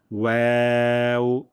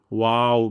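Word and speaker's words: واو: এখানে অনেকে ভুলটি করেন, ওয়াও বলেন, ওয়াও। প্রথমে আমরা ঠোঁটকে গোল করব, তারপর আমরা যখন হাসি দেই, হাসি দিলে আমাদের ঠোঁটগুলো যেভাবে ছড়িয়ে যায়, ঠিক তেমনভাবে ওয়াওয়ের ক্ষেত্রেও ঠোঁট ছড়িয়ে যাবে।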